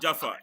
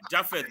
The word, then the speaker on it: Japheth: Dr. Jaffa. Not Jaffa. Japheth, madam.